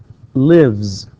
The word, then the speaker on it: lives: We pronounce the S here, okay, it's pronounced as Z.